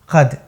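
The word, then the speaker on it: क़द: दरअसल यहाँ क के नीचे नुक्ता है, ये है कद।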